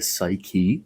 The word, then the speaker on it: Psyche: the human soul, the psyche. Psyche is how we say it in Greek. The ps is pronounced in Greek as ps. It's ps, ps, it's not s.